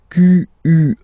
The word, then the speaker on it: quelle: And then the feminine form is written like that, Q-U-E-L-L-E, but it's pronounced like the masculine form. Quel at the masculine, quel at the feminine.